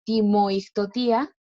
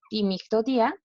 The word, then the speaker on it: timictotía: En el verbo ictotía, que significa bailar, y que ocurre lo mismo que en el apartado pasado, que no se pronuncia timoictotía, sino es timictotía, por las vocales juntas.